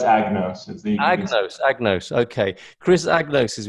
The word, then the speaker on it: Agnos: Is it a kind of silent G there? No, it's Agnos.